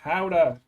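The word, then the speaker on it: howdah: elephant plus it's howder it's pronounced howder howder I'll kill you then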